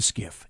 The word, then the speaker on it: SCIF: if now you may not know what a skiff is it's an SCIF SCIF it's pronounced gift that's called a sensitive compartmented information